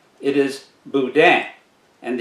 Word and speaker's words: boudin: boudin it is not boudin it is boudin and the n is silent boudin next we have cushkush